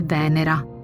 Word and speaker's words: Venera: cui la chiamo è Venera l'accento sulla prima sillaba e la a Finale come una dea o